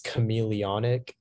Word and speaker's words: chameleonic: Your word is chameleonic. Can I please have all the information? Also, can you keep your hands up? Oh, yeah. Okay, so the only pronunciation is chameleonic.